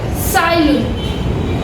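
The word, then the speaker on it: Tsai Lun: સાયલુન, TSAI. Over here T is silent. Sailun.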